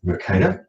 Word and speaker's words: Mercator: Moving right along, we have, being a recovering geography teacher, my favourite Belgian is Gerardus Mercator, that's how we pronounce it anyway, who devised the Mercator projection, which is the most common world map that you see.